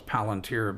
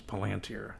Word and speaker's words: Palanteer: Pete Seaman and we were in a band called we called ourselves Palunteer but the real pronunciation is Palanteer.